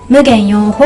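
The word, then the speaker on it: 夢幻泡影: 夢幻泡影この 4 文字で無限用法と読みます無限用方無限はい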